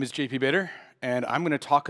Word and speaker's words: Bader: Bader, and if I was having trouble pronouncing it, it was to think of Darth Vader, but replace it with a V.